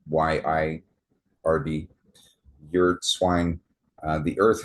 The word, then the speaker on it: yird: Known by various names as the yard dog or yird yird swine, yard swine, but it's y i r d yird swine.